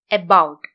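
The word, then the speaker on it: about: എബൌട്ട്.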